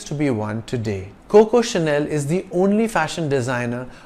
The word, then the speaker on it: Chanel: English word channel it's c-h-a-n-e-l with a single n and it's pronounced Chanel because CH is pronounced like sh in French Chanel is a French